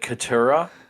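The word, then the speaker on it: Katurah: Is it Katura? Is that how you say it? Yes, Is Katura.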